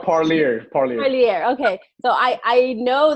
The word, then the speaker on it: Parlier: How do you pronounce it? It's called Parlier.